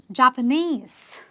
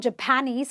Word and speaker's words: Japanese: My student was Japanese, not Japanese. A lot of people say, my student is Japanese. He can't be Japanese. He's from Japan, but he is Japanese. Okay, you're stressing on the ESE, which is the suffix itself.